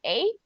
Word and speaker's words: ache: When you see this word, guys, ache, let me show you. Ache. Se escribe así H, but we pronounce it like this.